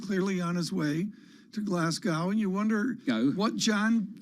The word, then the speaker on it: Glasgow: this this is critical it's pronounced glasgow john did you not know that i don't know that what have you been saying i i just butcher it like moscow have you been saying the moscow pascal yeah we say